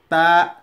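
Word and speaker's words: تاء: তারপরে আছে তা, তা। তা বলার সময় জিহ্বার আগা এই দাঁতের এই উপরে যে দাঁত আছে এটি নিচে যাবে, নিচে। তা এরকম দেখে নিন, তা, তা এরকম।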